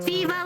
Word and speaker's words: Veeva: And I have to spell it and then be like, you know, like live in now, I suppose, is another one.